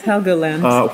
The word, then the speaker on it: Helgoland: Is it pronounced Helgoland? Helgoland. Helgoland? Yes, Helgoland.